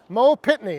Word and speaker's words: Mo Pittney: He was traveling down to Nashville to see a country music singer, Mo Pittney. I think that's how you say his name. Let me just double check. Yes, Mo Pittney.